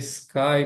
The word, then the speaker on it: sky: E outra coisa que é muito importantinha, não coloquem um i aqui antes de sky. A pronúncia já começa no s, né? Igual na palavra silêncio, por exemplo. Sky.